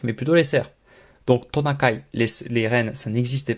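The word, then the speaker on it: トナカイ: Ren le Ren en japonais ça se dit tonakai alors tonakai ça s'écrit écrit en katakana parce que c'est du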